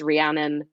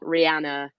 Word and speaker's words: Rhiannon: It's Rhiannon like the Fleetwood Mac song, not Rihanna like umbrella.